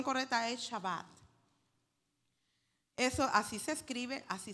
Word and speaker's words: shabbat: de Egipto ahí está la escritura mir se pronuncia shabbat nosotros decimos sabbat pero no es shabat ahí lo estábamos pronunciando ahí en la ahí ya con los Hermanos la pronunciación correcta es shabat eso así se escribe Así se pronuncia ese